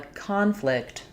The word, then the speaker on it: conflict: So when we say this word as a noun, we stress on the first syllable. It sounds like we had a conflict with the time. Conflict. And so you can hear in conflict, we have a clear a vowel for letter O. That's because when the letter O is in the stress syllable, it typically will say the A sound.